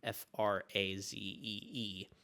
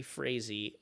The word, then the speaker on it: Frazee: He and the owner of the Red Sox, that was a guy named Harry Frazee, I think is how you pronounce his name, Frazee.